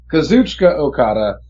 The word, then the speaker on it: Kazuchika Okada: So, I mean, it has been around the waist of non-Japanese people before, but definitely, let me pronounce his name right first, the first name anyway, Kazuchika Okada.